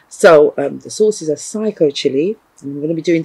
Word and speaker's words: SICO: from psycho chili and I called it cichlid chili when it's really psycho chili and I did a